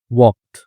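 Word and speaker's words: walked: है उसने क्या किया वॉक्ड ठीक है तो एल साइलेंट होता है इसमें वॉक्ड यानी कि वह चला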